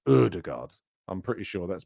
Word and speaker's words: Ødegaard: It's Ødegaard, like Ødegaard, isn't it? It's more Ødegaard than Odegaard. It's not Odegaard, it's Ødegaard.